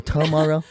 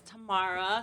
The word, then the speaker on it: Tamara: welcome um so so is it tamara or tomorrow i know a lot of people always ask me that they don't know how to pronounce my name but it's tamara so i mostly go